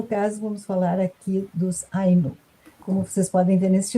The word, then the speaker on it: Ainu: Você pronunciou Ainu, o acento é no A. A tendência nossa brasileira é de pronunciar com acento no U, mas vamos lá.